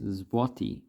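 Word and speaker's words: złoty: So this is zloty. That's how you actually pronounce that currency.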